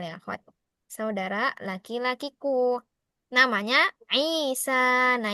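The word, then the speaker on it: عيسى: Saudara laki-lakiku namanya Isa. Nah, ini Isanya enggak ada harakat ya. Jangan dibaca Aisa. Isa dikasih harakatnya ya akhwati.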